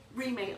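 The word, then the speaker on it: Reemay: How do you spell it? Remay, R-E-E-M-A-Y.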